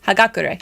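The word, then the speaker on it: Hagakure: Hagakur. That's how you pronounce that.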